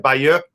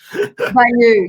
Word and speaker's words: Bayeux: Do you like the way I said Bayeux? Bayeux, yeah. Well, you have to speak it. You have to say it like the French say it.